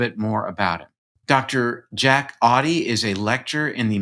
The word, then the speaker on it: Auty: Auty rhymes with naughty, you told me.